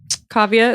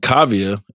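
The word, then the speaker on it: Kaavia: right away you just had a baby girl Kavya is that how you pronounce it yeah Kavya James is the first and tell us where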